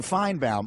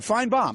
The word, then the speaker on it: Finebaum: It's pronounced as though the second syllable is B-O-M-B, right? That's a Southern thing. We like bombs. Yeah. Which is all good. Finebaum.